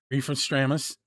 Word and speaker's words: Refestramus: Um during that break, we're going to hear Reef from Stramis Storms.